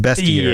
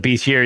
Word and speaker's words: bestiary: It always looks like bestier to me, but it's pronounced bestier. Yeah. I I call it beastier even though I kind of know better, right?